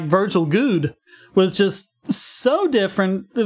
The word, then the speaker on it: Goode: And it is Goode. It rhymes with food, not wood.